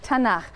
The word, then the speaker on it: Tanakh: also on that sheet tanak which is really the letters t n and um and they put little A's in there to make it easy to pronounce because is hard to pronounce so tanak okay um and this